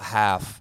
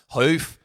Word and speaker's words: Howth: It's not half, but it sounds like Howth. Hoof, like a horse.